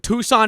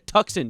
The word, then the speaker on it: Tucson: I saw someone in Tucson, Arizona. Oh my god, they're going to get me in Tucson. I called I pronounced your Tuxen the other day. My mom had to correct me.